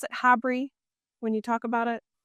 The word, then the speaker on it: HABRI: got to be a part of do you pronounce it HABRI when you talk about it?